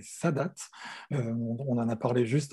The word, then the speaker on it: Sadat: Il faut prononcer Sadat.